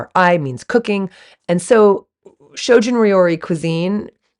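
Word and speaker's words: shojin ryori: make sure it's vegan so shoin means shoin means asceticism as a way to Enlightenment and rori means cooking so that's why you have shojun rori s h o j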